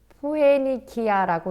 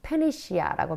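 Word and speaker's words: Phoenicia: 자, 그다음에 이 포에니키아라고 이제 우리 한글에 나는데 페니시아. 그래서 페니시아라고 발음합니다.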